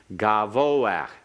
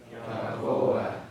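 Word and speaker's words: גבוה: Because the second syllable is the only syllable that you can emphasize. You're emphasizing the last syllable because the pathic under the hay is a pathic furtive. There's a pathic Half vowel. Not a separate syllable. Right. Pathic furtive is a half vowel. And that's why we pronounce it ahead of the sound of the hay.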